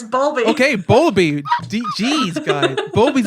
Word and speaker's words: Bowlby: Bulby. Bowlby. Bowlby. Bowlby. How do you say bowl, Corey? Bowel. Yeah, but it could be Bowel. bowel. It's bowel. It's bow. It's B-O-W. Bowlby, okay, it's Bowlby.